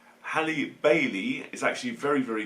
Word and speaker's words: Halle: was actually very enjoyable Hayley and I get this name wrong again I like Hallie Bailey is actually very